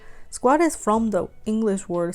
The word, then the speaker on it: SKWAT: is about the name Squad Squad is from the English word squat s-q-u-a-t I guess you already kind of thinking that's the same word because it's pronounced the same the meaning is to